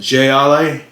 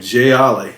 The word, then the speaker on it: Jai Alai: cigar city gylai ipa i didn't even know how to pronounce it jay ali that's how i was saying j ollie cigar city brewing ugh